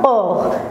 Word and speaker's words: aur: A-U se prononce O.